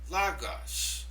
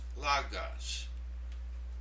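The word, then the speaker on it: λόγος: The fourth one, Logos. Logos. There's an accent over the omicron. That means that syllable gets the stress.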